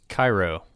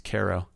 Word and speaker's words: Cairo: is spelled see AI ro how would you pronounce that Kairo yeah that's correct but you're wrong it's karo really yeah do you know why no I